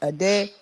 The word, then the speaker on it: Ade: You saying his name wrong though. It's Ade. Ade.